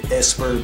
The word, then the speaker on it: Epser: out my other channel, Epser Badass 2. I spelled it wrong. It's really Esper, but it's spelled Epser, like E-P-S-E-R.